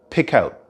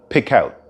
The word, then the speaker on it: pick out: if you listen carefully we don't actually pronounce the letter T in the word out pick out pick out you could pick out